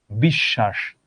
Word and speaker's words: বিশ্বাস: এখানে আছে তালব্য শ এর সঙ্গে, এটাও দুইবার উচ্চারিত হলো বিশ্বাস।